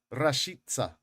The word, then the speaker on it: Rashica: I looked up the pronunciation, and you're meant to roll the R. Okay. And for the C at the end, you say S. So it goes like this: Milot Rashica.